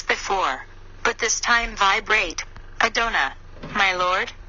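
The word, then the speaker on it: Adonai: but this time vibrate I done' my lord the AI is pronounced as in the word i 3 continue the blue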